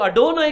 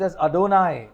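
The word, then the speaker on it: אדני: हाउ द जू से उ लोग आडोना करके बोलते हैं दे से प्रोनाउंस इट एडोना आडोना बोलेगा तो माय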